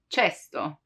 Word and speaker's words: cesto: For casa, house, casa, but the K sound can also be pronounced as ch, as in cesto, cesto, which means basket.